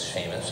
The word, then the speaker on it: Seamus: you don't look like you spell it spelled with the S EA it's Sheamus just spelled that way uh but uh I